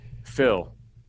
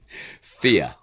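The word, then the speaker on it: Fiadh: Anyway, and the last one is spelled F I A D H. Phil. No. Fear.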